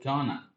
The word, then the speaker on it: gonna: In speaking only, we sometimes pronounce going to as gonna.